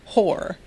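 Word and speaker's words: Hoare: under the rule of House Hor. Yes, pronounced Hor.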